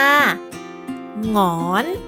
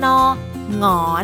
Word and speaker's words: หงอน: เป็น เหงา นั่น เอง ค่ะ คำ ต่อ มา หงอน หอ ง ออ น หงอน หงอน ไก่ นะ คะ เสียง สูง ขึ้น ค่ะ หรือ